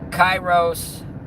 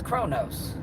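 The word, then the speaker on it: Chronos: was say to Google, is Chyros uh is Chyros associated with any planet or star? And it came back it was associated with Saturn and it said the right way to say it is Kronos.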